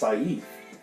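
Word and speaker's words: caiph: an interesting word that's pronounced saif which is spelled c-a-i-p-h and it defines opinion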